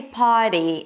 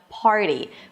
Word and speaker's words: party: Now look, even if you drop the R, it's not a big deal cuz you know there are some dialects in the US alone that drop the R before a consonant and may say potty instead of party.